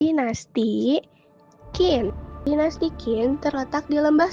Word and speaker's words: Qin: Negara ini muncul dari negara Qin, diucapkan Qin, yang menjadi asal nama Tiongkok karena merupakan negara paling barat dan menjadi tujuan utama para pedagang barat.